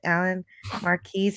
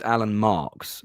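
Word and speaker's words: Alan Marques: But here in this chapter, this section, you talk about your friendship with Alan Marquise, who was a visual effects supervisor. Yeah, it's actually pronounced Alan Marks, and he was the visual effects supervisor on Jerry Anderson's Space Precinct.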